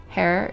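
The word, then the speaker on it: Herr: Hair is German for mister. It is pronounced like hair.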